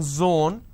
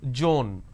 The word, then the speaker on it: zone: For example, it's zone. Instead of saying zone, they pronounce this as Joan.